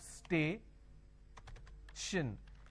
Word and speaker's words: station: for example station now when i have station i have stay shin the t i o